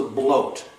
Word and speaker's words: blot: different ritual this is the bloat rhymes with boat spell b-l-o-t the bloat or the